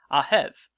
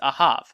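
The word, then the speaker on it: אָהֵב: That's a spelling with English letters that tell you how the Hebrew word would be pronounced, ahev, or depending on other spellings, ahav.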